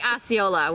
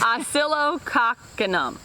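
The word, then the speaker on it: Oscillococcinum: Oscillococcanum. Yeah, I say Osceola when I talk about it, which is not exactly how that's not how you say it. Notice. Oscillococcanum.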